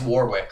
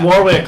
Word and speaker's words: Warwick: I think it's Warwick. Like I think it is League Warwick. of Legends champion. It's Warwick, like the League of Legends.